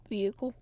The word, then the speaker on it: vehicle: Vehicle. Vehicle. Yeah. Yeah. Pronounced with no H. Vehicle.